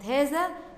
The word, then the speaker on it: هذا: هنا في كلمة هذا بنطق بعد الهاء ألف ولا تكتب، يبقى هنا كلمة هذا بها ألف تنطق ولا تكتب بعد الهاء.